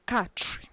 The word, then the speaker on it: quatre: It's not qua, ka. Now you pronounce the Q and U as k. So quatre, quatre, followed by cinq, cinq.